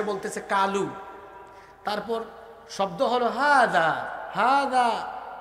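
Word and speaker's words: هذا: কালু তারপর শব্দ হলো হাজা হাজা জালের উচ্চারণ জিহ্বার আগা আর দাঁতের আগায় লাগিয়ে বলতে হয় হাজা আর সে বলে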